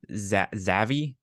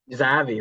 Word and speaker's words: Xavi: This stems directly from the fact that one Xavi, is that how you pronounce his name? That guy who's coaching for Brocalona somewhere in Spain. Oh, Zavi. Xavi, there it is.